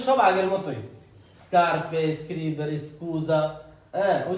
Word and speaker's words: scusa: আচ্ছা আমি কি বোঝানোর চেষ্টা করতেছি জায়গার মধ্যে নরমাল যখন আপনার এভাবে আসবে এসেছি তখন স্কার্পে স্ক্রিবেরে তখন উচ্চারণ কি হবে? স্কুজা, হ্যাঁ তখন এসেছি যেমন হইব নরমালি স্কুজা ঠিক